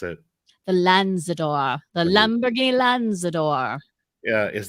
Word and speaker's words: Lanzador: Because the Lazarus, I keep wanting to call it the Lanzador. Lazarus. Eileen, how do you pronounce it? the Lanzador, the Lamborghini Lanzador.